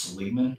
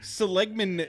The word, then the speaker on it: Seligman: I think it's pronounced Seligman, but it's just west on the 40.